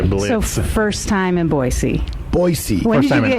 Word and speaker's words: Boise: It's my first time in what I learned how to say it correctly, Boise. Yes. The S. Yeah. Yes. This is my first time here in Boise.